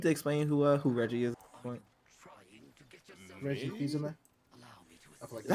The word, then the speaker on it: Reggie Fils-Aimé: Reggie Fils-Aimé? Is that how you pronounce it?